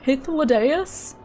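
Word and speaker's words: Hythlodaeus: I merely suggest that's how it's pronounced in game. Hithus. It sounds like you're saying hit the deis.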